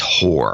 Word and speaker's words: Goor: So Bob Degens in Goor. In Goor. Yeah, very sexy. Yeah. Goor for those taking notes. Yes. But apparently it's pronounced whore.